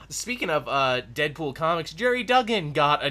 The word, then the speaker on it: Duggan: using the word Duggan people have fought me forever on the pronunciation of Duggan some people have said Dugan for the longest time no really I've gotten into so many fights and I'm glad I'm right now I'm gonna hold